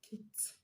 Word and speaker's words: kicked: Another word, kicked, kicked. The ed at the end of kick is going to be pronounced as t, because the last sound